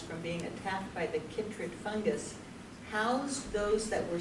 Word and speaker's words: chytrid: I believe it's pronounced chytrid. That CH sound is usually pronounced K instead.